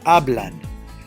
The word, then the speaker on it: hablan: So we have hablan. There are 2 syllables. A-blan. The second to the last, you take the last one and then go back one, is hablan.